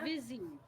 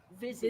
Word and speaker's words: Vizzy: It's called Vizzy. How do you spell that? V is in victory. Uh-huh. IZZY. Vizzy. Busy? Yeah, it sounds kind of Like fizzy with a V.